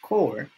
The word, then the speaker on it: corps: army navy air force marine corps pronounced core and coast guard many